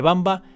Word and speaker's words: Wamba: comienza con su nombre aunque se pronuncia como si fuera un ave lo cierto es que bamba se escribe con w de hecho es el